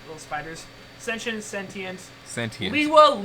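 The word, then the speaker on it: Lewa: Liwa, Lua, I really Hey! don't care anymore. It's Liwa. It is I Liwa. don't care anymore! I'm done with pronunciations.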